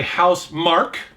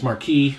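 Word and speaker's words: Housemarque: um this is by house mark i've in the past i've mispronounced their name as marquis but it's mark they they do next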